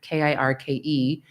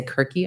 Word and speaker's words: Kirke: And ultimately I chose the last name Kirk, Kirke, after the Greek goddess of transformation, Circe, whose name was Kirke in the original Greek. I don't say Kirky, I just say Kirk, but it's spelled the same way.